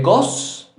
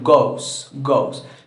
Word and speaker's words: goes: Go, entonces se vuelve goes. Se pronuncia parecido, goes, pero se le agrega es.